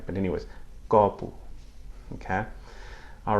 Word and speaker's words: copo: It's actually an open O. Copo. I'm not doing it right, but anyways, copo.